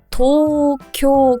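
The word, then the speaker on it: 東京: 들어서 1번에 수도가 어디죠 도쿄 한글로 표기를 하기 때문에 이거를 보고 그대로 발음을 하면 절대 안 되죠 도쿄 도쿄 이거는 심지어 장음이 두 번 있는 거예요 토쿄 길게 해주시고요 그리고 두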